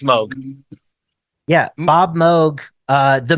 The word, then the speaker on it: Moog: yeah moo moo Mo yes it's it's it's pronounced Moog yeah yeah get the out of here it's it's Moog yeah Bob Moog uh the Moog Factory and